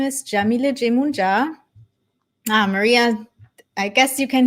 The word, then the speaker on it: Yamile Yemoonyah: My name is Yamile Jemunja. Maria, I guess you can hear me and see me because you're saying hello. Awesome. So my name is Yamile Jemunja. That's how you pronounce it.